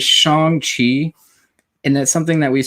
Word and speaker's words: Shang-Chi: page and you're putting importance on things like pronunciation. So it's Shang-Chi, and that's something that we're going to probably push quite often here as we catch a lot of the discussions happening.